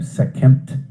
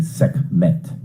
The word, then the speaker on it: Sekhmet: and t so second some people pronounce her name sec kempt and we traditionally we you know ordinarily say sec met and then you